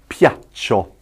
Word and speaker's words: piaccio: And that's pronounced piaccio, piaccio, piaccio. And the reason, I guess, we introduced the I there, the I, think of Italia when you're thinking of the I in Italian. Italia. The reason we introduced the I is because that E makes it a soft C.